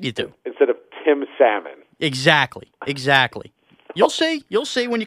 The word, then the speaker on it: Salmon: You pronounce the L, Salmon. Like John Salmon. Yes, 100% you do. Instead of Tim Salmon.